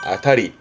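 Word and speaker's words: 辺り: 훈도그은 조심할게.요 위에서이 주변을 말할 때는 고호행인데 뒤에 리자가 보인 발음은 아타리. 아타리. 이것 또한 뜻은 주변 북근처를 말하지만 변자 뒤에 리가 보이면 아타리 없으면 헨 요런 발음도 좀 조심하시고요.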